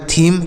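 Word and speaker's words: theme: एच ई एम ई तो टी एच से हो जाएगा थ ई से बड़ी की मात्रा एम से हो जाएगा म तो ये हो गया थीम क्या हो गया थीम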